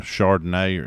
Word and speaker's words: Charbonnet: Uh but, you know, still having uh Jackson Smith um you know, uh Charbonnet. Is that how you say Does that Is that the way you say his name? Char- Charbonnet.